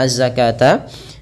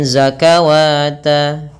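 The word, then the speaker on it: الزكاة: syamsiah langsung keuru hahati juga dalam pelafalan azzakata jangan terbaca dengan zakawata kalau kita kadang-kadang bingung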